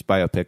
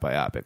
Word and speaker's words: biopic: I'm strongly in the camp that it's biopic and not biopic. Where do you stand? Yeah. Biographical picture. I think biopic sounds really clunky. Yeah, but it's not biopic because that's already a